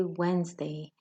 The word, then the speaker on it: Wednesday: it so we say Wednesday Wednesday the D and the E is silent we just hear wday